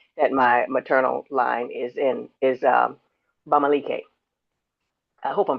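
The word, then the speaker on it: Bamileke: I found out I guess about 3 years ago, if that long ago, that my maternal line is Bamalike. I hope I'm pronouncing that right.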